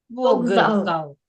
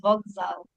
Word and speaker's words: вокзал: ось де ось де далі говоримо вокзал але правильно вокзал вокзал тут навпаки тут вимовляються глухі приволосні як дзвінки тобто навпаки там глухий вимовлявся як дзвінкий а тут наоборот тут дзвінкий замінює глухий тобто тут треба писати